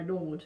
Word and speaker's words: gnawed: I knew there was a silent letter there somewhere. It was probably a K. It's usually a K. Well, yeah, KN. I gnawed at it for a while before I finally broke the skin.